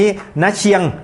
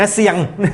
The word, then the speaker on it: น้าเซียง: ใน เคส วัน นี้ น เชียง นะ ฮะ หรือ ณ เซียง จะ ออก เสียง ยัง ไง ก็ ได้ นะ ครับ ที่ อยู่